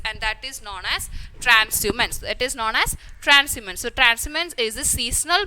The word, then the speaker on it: transhumance: So here H is silent and we will pronounce it as transhumance, and it is the